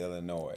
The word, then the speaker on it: Illinois: Definitely Illinois.